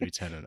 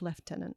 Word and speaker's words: lieutenant: do that um because the Americans say lieutenant and the same word in the UK is pronounced leftenant I've never understood why